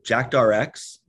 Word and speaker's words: JAKTRX: it's under this new brand can you please pronounce that for our audience all right so jackdrx is the brand uh and the new product